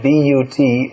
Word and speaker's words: but: As Srila Prabhupada pointed out, you'll find in English B-U-T is pronounced but, P-U-T is pronounced put.